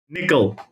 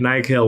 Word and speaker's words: Nikhil: Is it pronounced Nikhil, or Nickel? All right, Nikhil, we got it.